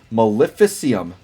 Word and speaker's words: Maleficium: to pronounce this right maleficium like Maleficent from Disney but em at the end so Mo here I'll